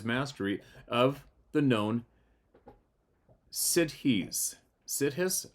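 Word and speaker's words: siddhis: of the known sides sides of course I'm probably not pronouncing it right s i d d h i s you pronounced it right kidding supernatural abilities he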